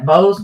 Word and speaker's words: Bose: Yeah, Bose.